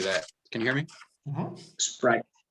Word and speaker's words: Sprite: Sprite. Right. So most of them say they say it like this. But in English you only say just the S, just like you would say what's the word for simple in Portuguese?